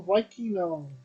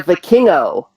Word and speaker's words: Vikingo: El Hijo El Vikino versus Kenny Omega. Yeah, The dream yeah. match. I, I mean, I actually heard how they were pronouncing it. El Hijo de Vikingo.